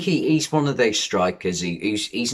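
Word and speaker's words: Struijk: was that centre-back pascal strike is how you say strike but that sounds bit drummy doesn't it strike what a strike er but it's one of them where it's dutch and it's uija so we'll go strike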